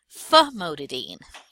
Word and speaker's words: famotidine: Dean or bean but when we look at it it looks like dine we don't want to mispronounce that it's actually pronounced Dean so this is Dean - Dean mohtadeen famotidine so that's the correct